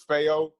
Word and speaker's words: Feo: bit on my name it's fail rhymes with mayo ayo you know it's it's uh it's it's obviously it's a spanish word it's a spanish word